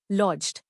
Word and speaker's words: lodged: लॉज्ड. नया लफ्ज लॉज्ड. इसको तोड़ते हैं लॉज्ड. जोर लॉज्ड पर है. LODGED. लॉज्ड left lying and not used.